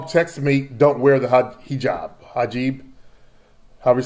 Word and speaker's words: hijab: My mom and sister are actually having a conversation whether or not they should continue wearing the hijab.